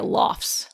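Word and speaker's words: lough: called in the area lofts. There's that dialect popping up again. L O U G H loft. Yes. Clearly related to lock.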